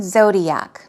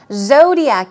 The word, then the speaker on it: zodiac: now I have chosen zodiac because I want you to practice pronouncing it zodiac as you see the first syllable is stressed Zodiac zodiac we're talking